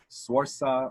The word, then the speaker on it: Saoirse: The Irish one, Saoirse Ronan, like a nurse.